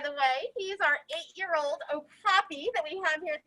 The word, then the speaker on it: okapi: is an okapi it's a lot of people call him okapi but the proper way to say it is oh poppy and they are a